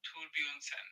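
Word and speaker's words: Thorbjornsen: Are you just watching his pronunciation video? Michael Torbjornsson.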